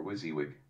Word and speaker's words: WYSIWYG: is what you get or was he with pronounced WYSIWYG it is the perfect